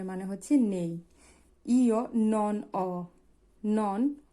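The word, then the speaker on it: ho: আপনারা চাইলে দেখে নিতে পারেন তাহলে শুরু করি অ এখানে অ এইচ এর কোন উচ্চারণ নেই।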